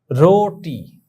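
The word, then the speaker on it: روٹی: রোটি, দেখো তোমরা, রে ওয়াও পেশ রো টে ইয়ে, রোটি। এখানে রুটি বললে কিন্তু ভুল হবে।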